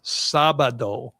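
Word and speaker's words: sábado: It's sabado.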